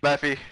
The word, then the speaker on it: Mephi: Mephi? Mephi, yeah. I'm sorry, I called you Nephi a lot.